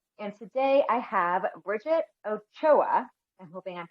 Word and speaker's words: Ochoa: I'm your host and fellow wellness provider, and today I have Bridgette Ochoa. I'm hoping I'm pronouncing that correctly.